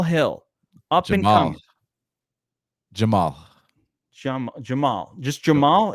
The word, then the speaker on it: Jamal: Just Jamal. It's pronounced Jamal straight up.